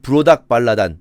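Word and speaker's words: 므로닥발라단: 이게 사실 무로닥 발라단이 더 맞는 발음입니다. 발음하기에 따라서 조금 다르지만 외국인이니까. 왜냐면은 미음 리을 디귿 기억이 마르둑이거든요. 마르둑, 바벨론에 주신 마르둑.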